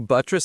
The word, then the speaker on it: buttress: As a verb, to buttress something means to provide it with support or reinforcement. Let's say it. It sounds strong. Buttress. Buttress. Stress on the first syllable.